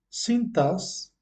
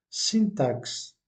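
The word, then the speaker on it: sintaxe: et malgré le fait qu'ils doivent se prononcer cintas donc ici vous vous accentuez la syllabe du milieu où est le tas cintas mais le problème le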